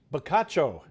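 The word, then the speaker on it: bocaccio: it's also a food so here we go bacho bacho is a large edible California Rockfish bacho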